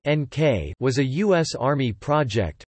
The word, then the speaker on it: Νίκη: Project Nike, Greek, victory, pronounced NK, was a U.S.